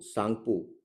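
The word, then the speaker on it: Tsangpo: रांगो सांगपु T silent होता है।कि इसको receive करती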